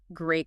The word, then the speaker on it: great: pronouncing this phrase so the TT sound at the end of great that often becomes silent especially when you're speaking quickly it ends up sounding more like great condition ah got it like